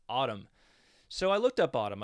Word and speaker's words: ATUM: And I watched an interview with Corgan the other day, the one he did with Zane Lowe, and indeed he confirms the pronunciation is Autumn.